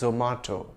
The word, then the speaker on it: Zomato: Well, Zomato is an Indian multinational and I've heard its Indian founders pronounce it as Zomato.